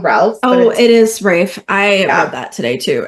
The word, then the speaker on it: Ralph: Ralph oh it is Rafe I read that today too and it's raai fines it rhymes with safe signs that's what his trivia says on I'm de I'm deceased um my problem with Rafe in this role is